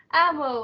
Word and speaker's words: Amo: Oh, So I got a few responses, and we'll start with the first question from, I think you pronounce it Amo, AMO. ammo, yeah. Amo, yeah, okay. So he wanted to, or she, he.